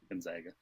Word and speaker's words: Gonzaga: They were like Gonzaga before. Mm-hmm. Gonzaga.